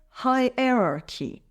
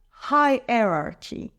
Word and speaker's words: hierarchy: levels it's pronounced as hierarchy let's break it down High r r t the stress is on the first syllable High let's say it together high erarchy high erarchy moving on